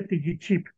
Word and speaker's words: tigichip: Como ustedes saben, la última vocal no se pronunciaba y entonces queda la frase tigichip.